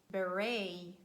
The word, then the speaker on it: beret: highlight those words where letter T stands at the end of words and it is silent. These words are mostly of French origin. For example, ballet, beret, gourmet, buffet, sorbet. So letter T is not pronounced.